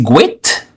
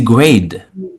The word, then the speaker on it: great: Au lieu de dire great, on dit grade.